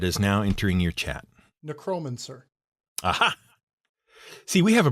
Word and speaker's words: necromancer: That the first syllable, the NE, is the accented syllable.